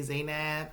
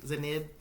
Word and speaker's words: Zainab: say her name wrong when I see her name spelled I want to say zainab but I know it's like zanib cold call Jose they